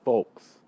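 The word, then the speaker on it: Foulkes: it to you guys ah nick folks nick folks is folks and son f-o-u-l-k-e-s that is a really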